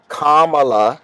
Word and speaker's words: Kamala: there and biden and kamala did i say your name right kamala it's calm you say comma and allah karma allah i think it's my